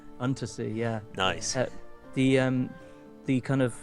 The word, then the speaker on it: Unterzee: Is that the correct pronunciation? Untersea, yeah.